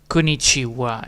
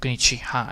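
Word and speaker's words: こんにちは: So technically it's hawa, and then the ha is gone because you speak it out as a goddamn wa. Konnichiwa instead of konnichiha, and therefore there's a ha instead of a wa.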